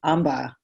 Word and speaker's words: Ambha: Oh, actually, Tasha, I wanted to ask, is it Amba?